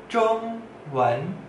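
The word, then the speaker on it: 中文: Bahasa Mandarin, bahasa Mandarinnya, Zhong Wen, Zhong Wen, Zhong Wen. Artinya bahasa Mandarin. Zhongwen. Coba ngomong pelan-pelan. Zhongwen. Zhong nada satu, wen nada dua.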